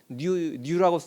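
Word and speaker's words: ν: 여기 좀 이상한 글씨로 써 있는 얘는 이제 뉴라고 읽는 건데 얘는 중성미자라고 부르는 입자예요.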